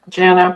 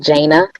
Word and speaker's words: Jana: thank you next speaker Jana good afternoon my name is pronounced jaina for future reference and I'm speaking on